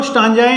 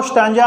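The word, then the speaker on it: stanza: और दो आपको स्टांजाएं आती हैं जिनको आप हिंदी में सरलार्थ बोलते हो। ठीक है, दो आपको स्टांजा आएंगी, उनमें स्टैंजा भी कई प्रोनाउंस करते हैं, कई स्टांजा करते हैं, लेकिन आपको इतना ध्यान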